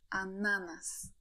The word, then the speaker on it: ananas: Please note that the word stress in Polish is fixed on the second to last syllable. So we read ananas, banan, aleja, gratulacje.